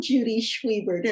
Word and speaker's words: Judy Schwiebert: I am Judy Schwiebert, and I would be honored to earn your vote.